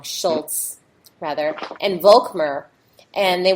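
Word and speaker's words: Scholz: So, what they did in response is that they had this creative agency called Schlloz and uh I think I pronounced it wrong, Schultz rather, and Vulmer.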